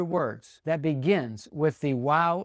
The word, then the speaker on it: waw: If you've been under the influence of the Germans, you may pronounce this vav, but that is incorrect and non-original, believe it or not. It was not a vav, it was a waw. It made the w sound when it was a consonant.